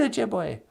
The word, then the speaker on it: Ojibwe: Well, E's sound like A in Ojibwe, like in the word Ojibwe.